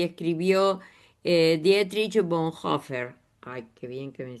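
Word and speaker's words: Bonhoeffer: Bueno, escuchemos dos minutitos más este de lo que pensaba y decía y escribió eh Dietrich Bonhofer. Ay, qué bien que me sale. Sí, lo pronunciaste bárbaro.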